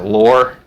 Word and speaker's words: law: least in jfk speeches the word law he pronounces it lore uh sort of like